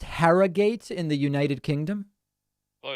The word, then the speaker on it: Harrogate: next to evan from herrera is it pronounced harrogate in the united kingdom hello david can you hear me okay yeah i can hear you fantastic it's pronounced harrogate actually harrogate i like it um yeah so i just